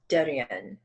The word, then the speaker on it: Devin: This is the leader of the Pascats called, it's spelled like Devin, like D-E-V-I-N, but it's pronounced Derian.